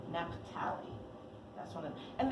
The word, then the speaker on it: Naphtali: Now I don't know how to pronounce this one, so anybody jump in and tell me. The Napht. Naphtali. Naphtali.